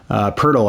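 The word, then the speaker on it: Pöltl: to go over to Jakob portal portal I should say who uh again thank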